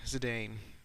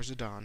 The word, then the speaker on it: Zidane: nine characters garnet and zidane or zidon however you like to pronounce it here's a masamune